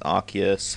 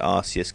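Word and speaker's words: Arceus: uh arus event um arus arus however you want to say it I don't care I say arus cuz it's that way it's closer to the Japanese pronunciation arus CSU or something like that and yeah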